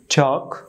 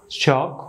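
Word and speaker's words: chalk: কে দেখতে পাচ্ছেন এখানে এল কে এর উচ্চারণ করবেন কয়ের মতো তবে এল অনুচ্চারিত থাকবে তো সেই সুবাদে এই নিয়ম অনুসারে আমরা এই ওয়ার্ডগুলি সঠিক উচ্চারণ করতে পারি চক ওয়াক চক ওয়াক চক ওয়াক চতুর্থ ক্ষেত্রে যে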